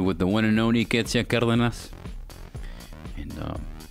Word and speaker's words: Ketzia: So, Ketzia, did I say it right?